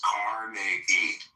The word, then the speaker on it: Carnegie: Okay, so pronounce his fucking name right. It's Carnegie.